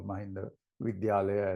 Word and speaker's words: Mahinda Vidyalaya: And I went from 3rd grade to high school in that school called Mahinda College, or Mahinda Vidyalaya, it's the Sri Lankan pronunciation.